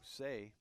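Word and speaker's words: Tsay: That's number 2, Say. Spelled T-S-A-Y. Pronounced with just S, S-A-Y.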